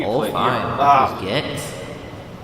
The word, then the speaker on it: Gex: It's not Gek. It's Gex.